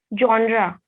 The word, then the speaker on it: genre: Genre, They are not stressing on R.